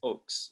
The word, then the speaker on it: Ochse: Google that shit, and my name is hard to pronounce if you don't know, but it's pronounced Ochse, and it's spelled Ochse.